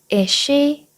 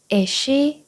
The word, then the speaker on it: is she: S 들어갔잖아요 그래서 우리는 S 한 번만 만 발음해 주시면 돼요 에쉬 에쉬 이렇게요 따라해 볼게요 에쉬 에시 잘하셨어요 문장 같이